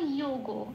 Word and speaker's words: যোগ: আচ্ছা, যোগ হয়ে অন্তস্থ জয় করে লাল দিয়েছি কেন? কারণ অন্তস্থ জয়ের উচ্চারণ 1 নম্বরে তালিকাভুক্ত করে দেওয়া আছে হর্ষই প্লাস অন্তস্থ। ওপরে ব্র্যাকেটে আমি কি দিয়েছি? হর্ষই প্লাস অন্তস্থ ওকার। কেন? কারণ এখানে অন্তস্থ জয় ওকার আছে। তাহলে উচ্চারণটা কি হবে? ইও। এটা। গোটা যেমন আছে তেমন, শব্দটার উচ্চারণ কি পেলাম? ইও গো।